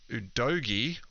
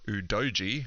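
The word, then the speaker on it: Udogie: used in the season head udogi or udoji however you to pronounce it I think they're both apparently acceptable pronunciations of the name but got the 12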